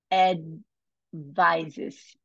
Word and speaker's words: advises: Advises. O D é mudo, tá?